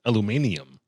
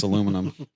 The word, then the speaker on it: aluminum: I mean, he already said that over there, aluminum is aluminium. Aluminium. So Spelled differently. yeah. Pronounced wrong. 17. Spelled wrong and pronounced wrong. It's aluminum.